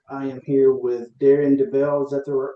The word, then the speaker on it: Debel: I am here with Darren Debel. Is that the correct That is You're one of the few that pronounced it correctly.